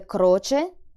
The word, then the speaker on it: croce: Same for the word croce, where the next letter is a consonant, and so the C gets a hard sound.